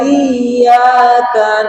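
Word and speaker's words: إِيَّاكَ: Kadang kita dipanjangkan justru itu salah. Harusnya double hurufnya. Iya. Iya gitu ya. Coba iyaka na'budu wa iyyaka nasta.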